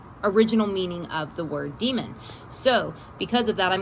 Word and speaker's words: daemon: I know the actual pronunciation is demon. The spelling is D-A-E-M-O-N. I know that it's actually supposed to be pronounced demon.